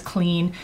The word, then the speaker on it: Cleen: that labels itself as clean and literally has the name clean although it's spelled Clee n and that's available through